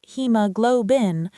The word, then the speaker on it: hemoglobin: It's pronounced hemoglobin, with the main stress on glow.